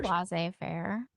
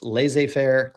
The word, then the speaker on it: laissez-faire: I say laissez-faire. Yeah, see, it's either, I've heard it pronounced both ways. It's laissez-faire, laissez-faire. Either way, it's not successful at building a national economy.